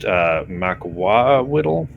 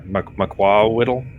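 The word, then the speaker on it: macuahuitl: It's pronounced Makwawiddle. Yeah, Makwawiddle. Mahato? No, Or it's something? No. It's actually MAK. Like it's an MAK sound. It's a weird sound.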